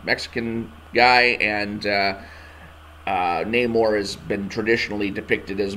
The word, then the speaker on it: Namor: name for the movie Namor is no longer pronounced Neymar it's Namor and when I looked up